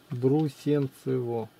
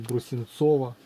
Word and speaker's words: Брусенцево: Брусенцево? Брусенцево. Не Брусенцово.